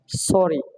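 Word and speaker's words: sorry: যেমন আমরা বলি সরি, এস ও আর আর ওয়াই, সরি, সরি, সরি, ঠিক আছে। তো আমার কি একটা আর এর উচ্চারণ হচ্ছে।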